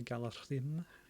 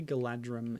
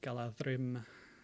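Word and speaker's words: Galadhrim: it's a DH sound, that's intended to be pronounced as a soft TH, as in then, as opposed to a hard TH, as in thick. So it's like Galadrim, which is not actually related to Galadriel's name.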